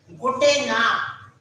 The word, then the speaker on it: Gute Nacht: See, this car is half. This car is half. We have to take half sound of ka.